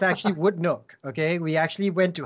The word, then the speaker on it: Woodneuk: over the years there have been many different pronunciations some people call it woody new some people call in wooden Nayak it's actually would look okay we actually went to how to pronounce